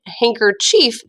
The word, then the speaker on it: handkerchief: we say hankerchiff or hankerchief but it's really the word hand in there and that doesn't really sound like handkerchief okay it doesn't really